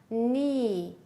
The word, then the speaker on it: knee: Silent is when you don't say, you don't pronounce the silent letter. Now look at the pictures, listen and repeat. Knee, knee, knife, knife, knit, knit, wrist, wrist, right, right, wrong, wrong.